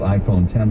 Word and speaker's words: iPhone X: next year of the iPhone X which is pronounced iPhone 10 by the waves the Roman numeral X they